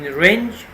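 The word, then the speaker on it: wrench: help me fix this in range W is silent range is a kind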